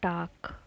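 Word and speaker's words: talk: होते हैं है तो जैसे एंड है टॉक टॉक का मतलब बातचीत जैसे टॉक में हम पालक नहीं बोलते हैं टॉक एंड साइलेंट हो गया है लखन मोच है और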